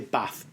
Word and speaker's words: bath: So I say bath. This will be dialectical stuff. Yeah. So you've got bath. You've got bath. I say bath. It's the same as master. So I say master or disaster.